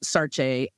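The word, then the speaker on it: Saartjie: Saree um her Sarah was like sort of the English name that they called her. I think the correct pronunciation of her name was Sarece.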